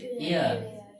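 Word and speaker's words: heir: এর উচ্চারণ হচ্ছে এয়ার।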